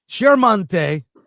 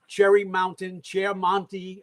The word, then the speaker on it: Chiaramonte: Andrew Chiaramonte. Did I pronounce that right? You know, Brent said that you did, and I think it's acceptable. I mean, I grew up with Chiaramonte, okay?